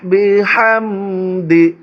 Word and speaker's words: بحمد: ফাসাব্বিহ, ফাসাব্বিহ বিহামদি, বিহামদি এখানেও বড় হা, বিহাম, বিহাম।